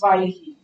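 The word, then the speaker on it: ויהי: But this it's actually Vayehi, by the way, which I think sounds like IBM. It's pronounced Vayehi.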